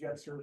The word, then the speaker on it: Jetzer: It's pronounced Yetzer.